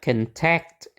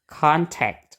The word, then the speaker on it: contact: Nah makanya di sini bukan contact itu salah ya tapi contact gitu bacanya contact pakai a juga sama k